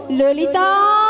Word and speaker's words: ললিতা: মাসি ওটা লালাই লাই আরে লল লল নয় বল ললিতাল ঠিক করে উচ্চারণ করতে পারছ না ভালো করে বল ললিতা থামনা নিয়ে যাও